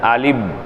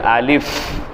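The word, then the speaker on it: ألف: ரெண்டு உதரும் ஒட்டிரும் அப்படித்தானே அலிப் அப்படி அல்ல அலிஃப் அலிஃப் கடைசியில அந்த ஃபா என்பதனுடைய அந்த உச்சரிப்பு ஆங்கிலத்தில் சொல்வதாக இருந்தால் எஃப்னுடைய உச்சரிப்புல முடியும் அலிஃப் அலிஃப் அலிஃப் அப்போ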